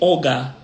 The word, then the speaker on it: Oga: O que existe no vocabulário Yorubá é uma outra palavra que se pronuncia como Oga, tá? Que é muito parecido com Ogã, tá, gente?